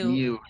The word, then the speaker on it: Mu: I think it's pronounced Mu. Like the Mu Greek letter.